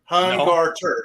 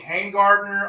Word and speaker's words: Hungarter: sense because you know my last name is hungarter you know it's not that hard to say hungarter it's how it's pronounced but you don't know how many people murder that maybe it's nine letters it's to it's too s I've seen hangartner I've seen Gartner when I play play